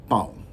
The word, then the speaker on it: pão: So bread is pronounced pão. Right? There's a little bit of a deepness to it when you say it. You kind of draw it down a little bit. Pão. And hopefully my pronunciation is good. There's pão and there's pau. So it doesn't sound all that different, right? But the one with the little deepness in it means bread.